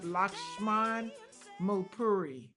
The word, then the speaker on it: Lakshman Mulpuri: I'm going to let him pronounce his name because I don't want to mess it up. Lakshman Mulpuri.